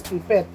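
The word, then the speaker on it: pipette: of apparatus next is pipit pipit some other would say pronounce is pipet but commonly according to them to the expert is That's pipet So figures pipit so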